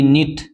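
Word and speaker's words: knit: के साइलेंट है जैसे के एन आई टी नीट इसमें भी के साइलेंट है के के साथ में एन आता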